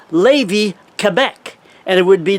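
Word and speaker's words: Lévis: people use and and the francophones uh will would tend to uh more say yeah levy so it was general levy and and the city across from quebec city would be pronounced levy quebec and it would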